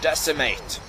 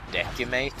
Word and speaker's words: decimate: just sucks all right time to decimate I thought it was decate to begin with but I actually learned